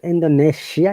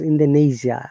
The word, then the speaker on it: Indonesia: indonesia mataram lombok indonesia i remember in the not indonesia it is indonesia and according to the phonetics it is sound indonesia very good indonesia similarly